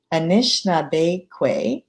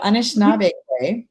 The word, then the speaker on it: Anishinaabe: and meyer is an anishna like putting the like stress on the wrong syllable so anishinaabe with family from nipissing